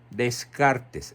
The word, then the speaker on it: Descartes: Se escribe Descartes, Renato Descartes, se pronuncia Descartes.